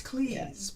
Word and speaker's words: Cleese: But it's Cleese, like cheese, because that was his name before it was The changed.